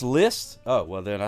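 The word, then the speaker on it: Liszt: long face hey oh least is pronounced list oh well then I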